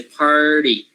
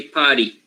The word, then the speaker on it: party: the the vowel so say party don't say potty right party no party you